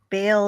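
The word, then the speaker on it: Baal: okay yeah very cool ball is pronounced ball like a bale of hay oh Bale so it's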